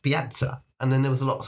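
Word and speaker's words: piața: So the word for square in Romanian is pa p i a t a but when they pronounce it it's pronounced patza and then there was lots of dea.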